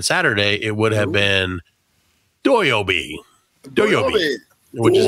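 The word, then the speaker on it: 土曜日: not have been Saturday it would have been doy Obi which is how you say Saturday in Japanese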